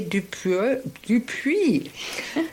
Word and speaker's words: Dupuis: Today, I'm extremely pleased to be with Lindsay Dupuis. Do I pronounce it right, Lindsay? It's Dupuis. Dupuis, it's a French name. In English, it's Dupuis. In French, it would be pronounced a little bit differently.